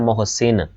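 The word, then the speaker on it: محسن: तो मोहसिन का जो सही तलफ़ुज़ होता है वो ये वाला होता है, ठीक है। ये ऊपर पेश होता है मोहसिन।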